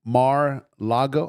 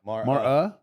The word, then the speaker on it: Mar-a-Lago: Mar-a-Lago. How do you pronounce that? Mar-a-Lago. Mar-a-Lago. Mar-a? Mar-a. Uh-huh. Mar-a. Mar-a-Lago.